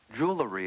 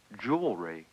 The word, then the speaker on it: jewelry: jewelry how about jewelry I think that's wrong you transposed the l sound right jewelry is wrong jewelry is correct why do people do